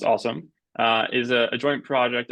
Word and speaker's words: OSoMe: is uh the acronym awesome is uh is pronounced awesome uh is a joint project of the ly